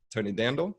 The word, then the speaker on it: Tonidandel: I'm joined by Jamie Brown and Tonidandel. Is that pronounced correctly?